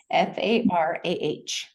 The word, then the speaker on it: Farah: It's not like the United States where we have two R's and a different pronunciation. It's Farah.